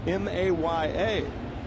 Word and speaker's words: Maya: The other was UniCa Ma Maya M A Y A who is also from Cuba. And we're pretty sure his name is still pronounced Maya. Yes. Yes. Don't drop the A.